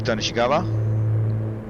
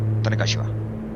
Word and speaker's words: Tanegashima: So that would be Tanishigawa, something like that. Did I pronounce that correctly? Tanegashima or Tanegashima. I like the latter better. Tanegashima. That sounds better. Yeah, let's go with that.